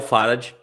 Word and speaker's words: farad: aqui Esse é o farad a TAP é uma unidade baseada no Farney teto mas a gente pronuncia farad eu nunca vou entender